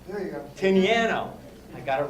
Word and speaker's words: Tinianow: I've learned how to pronounce his name, I think. Tinianow. There you go. Tinianow.